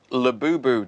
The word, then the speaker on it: Labubu: Labubu dolls. Oh, no. Have I pronounced that right?